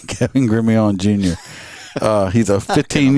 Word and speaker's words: Gremillion: it Ilion all right it's the Louisiana style Kevin up here he